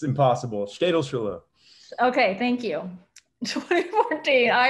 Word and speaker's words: Städelschule: Buck, how do you pronounce this? It's impossible. Städelschule.